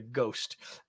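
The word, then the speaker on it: GOST: how you pronounce this I'm going to call it the ghost um framework g s no h g St framework um because it it helps us hook those two things together strategy and goals so walk us through the ghost framework if you would sure and yeah and you pronounce that perfectly the reason I like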